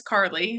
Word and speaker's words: Carly: Um so yeah, so uh just to clarify, pronunciation of my name is Carly.